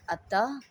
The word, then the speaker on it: अतः: नहीं लिखना चाहिए, जैसे अतः, प्रातः। यहाँ पे देखिए ह लिखा हुआ है ना, ये गलत है। इनका उच्चारण ह की तरह, आधे ह की तरह होता है, लेकिन ह लिखा नहीं जाता है।